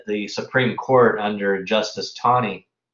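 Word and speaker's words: Taney: supreme court under justice tawny i realized it spelled tani in the textbook but there is a w in there in terms of the pronunciation he really issued this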